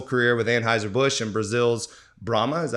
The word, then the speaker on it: Brahma: At 32 years old, after a successful career with Anheuser-Busch and Brazil's Brahma, is that how you say it? Yep. Brahma Brewery, you made it your life's mission to revive your family's legacy.